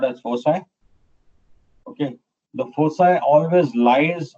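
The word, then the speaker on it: foci: has two Focus points the word fosi pronounced as fosi is a plural of focus okay so these are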